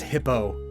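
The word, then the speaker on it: Hippeux: right hippie ukes uh supposedly pronounced frenchly so e-u-x it's just oh oh the name is just hippo but fancy fun fact in pocket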